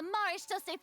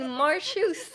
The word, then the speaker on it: Maréchaussée: Oh, and I'm sure Nouvellette and those people from the Maréchaussée Phantom are freaking out Maréchaussée, that's how you next to pronounce them, it? too. I was always saying Marchus, which is definitely not right.